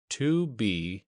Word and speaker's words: 2BR02B: The 0 in the telephone number he pronounced not. The number was 2BR02B.